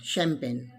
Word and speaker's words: champagne: n ng again silent champagne ch produces the sound of sure here sure champagne next one is ight